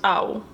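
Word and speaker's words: á: a comma over yeah so it pronounced Ow like you got hurt yeah okay yeah and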